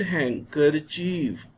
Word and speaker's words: handkerchief: silent in these words d is silent we shall read it handkerchief when we pronounce hankerjee